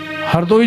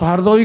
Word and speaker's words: हरदोई: और आज भी उस क्षेत्र में कोई रा अक्षर उच्चारण नहीं करता, आज भी। उनसे कहो आप हरदोई कह दोगे तो वो हरदोई नहीं कहेंगे, वो हरदोई कहेंगे। आप उड़द की दाल कहोगे तो उद्द की दाल कहेंगे, उड़द की दाल